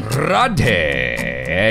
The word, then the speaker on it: Radhe: Because then they're going to correct me and make me feel stupid for my terrible mispronunciation. Radhe Shyam. Did I get it right this time? Yeah, Radhe okay, Shyam.